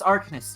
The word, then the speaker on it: Arcanist: No, Arcanist. Not Arceus.